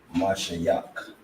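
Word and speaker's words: משיח: sorry that's the point you'll pronounce it Masha yuck which is the meaning which is which is how you say anointed in the heat you understand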